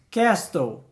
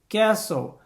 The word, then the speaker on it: castle: Castle. Não. Você não pronuncia esse T aí. É simplesmente castle. Castle.